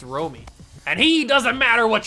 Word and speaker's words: Romy: Romy Gonzalez, or Rami? I don't know how to pronounce his name, but he looks at a strike there for the second one. Oh, it's Romy.